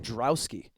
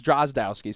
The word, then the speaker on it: Drozdowski: Like Drowski. Is that how you say his name? Dowski. Dowski. You got it because it's Drozdowski, so you just mixed it up a little bit.